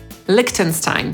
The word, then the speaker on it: Liechtenstein: Podsumowując, nazwy własne, które mają w pisowni końcówkę „-stein”, przeczytamy po angielsku najczęściej przez /staɪn/, np. Einstein /ˈaɪnstaɪn/, Frankenstein /ˈfræŋkənstaɪn/, Liechtenstein /ˈlɪktənstaɪn/.